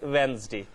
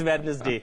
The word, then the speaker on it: Wednesday: or it is Wednesday Mahad has already explained D is silent in Wednesday it is banished day not about Anna's day I have been corrected by so many teachers yes it's madness day not Wednesday so whenever you teach